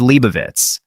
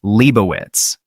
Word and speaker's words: Leibowitz: of A Canticle for Leibowitz. Ding, who had the lead with $12,200 at the time, answered, "Who is Leibovitz?" Jennings said it was close, but the answer was Leibowitz.